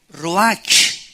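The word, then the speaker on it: רוח: entonces la palabra hebrea Roach que se pronuncia ro La ch en el hebreo se pronuncia como j y que es la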